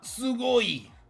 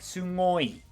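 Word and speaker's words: すごい: But it almost sounds like some people put a little N before the G, as if they're pronouncing NG and not just G, like sugoi. Sugoi. Not just Sugoi. That's probably just in the anime that one time and is not a normal thing.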